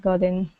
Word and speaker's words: gotten: His brother had gotten even and he'd won the race.